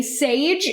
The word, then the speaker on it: Šejić: creator himself said that if you say sage especially if you can say it with like a little bit of an accent then that's the closest you could get we